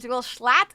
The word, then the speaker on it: Schlatt: Schlatt is how it likes to be pronounced.